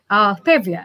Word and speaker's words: Pavia: Is that Pavia? Mm-hmm. Is that how it's pronounced? Pavia. Yes, Pavia.